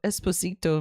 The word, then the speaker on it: Esposito: So esposito means little husband. So just pronounce it like the song, oh god.